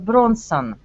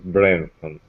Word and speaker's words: Branson: do you know Richard Bronson Richard Bronson you not oh yes ok maybe missional I know there's no here hehe usual pronounced Richard Branson hey I'm Branson yes